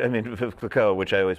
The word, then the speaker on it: Clicquot: I mean, Clicquot, which I always mispronounce. How bad did I mangle that? No, you did it just fine. All right. Clicquot, that was beautiful.